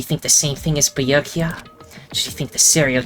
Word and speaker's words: Byakuya: It's Byakuya.